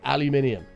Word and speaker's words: aluminium: like Americans pronounce it uh aluminum, but it's not that. It's aluminium.